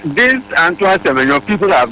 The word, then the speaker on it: Semenyo: It's Semenyo. Yes. So we will call it Semenyo. Semenyo. It's Semenyo. That's the right pronunciation.